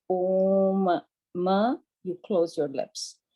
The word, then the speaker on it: Om: So Om is a Sanskrit word, and when you break it, it's three vowels. It's A, U, and Ma.